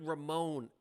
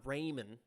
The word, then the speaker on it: Ramon: It's David Ramon, Angelo. Right? David Ramon. I think I got it. It's not Raymond. I think it's Ramon.